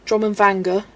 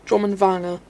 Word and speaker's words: Drummond Vanger: I hope my uh pronunciation is up to uh Ver's high standards, but I'm not saying drum and vanga like others do. Drummond vanga.